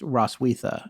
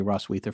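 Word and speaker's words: Roswitha: in her story is roswetha and i say that forrest tells me i might be pronouncing that wrong but i actually knew a ross wiether from germany and that's how she said it at least here in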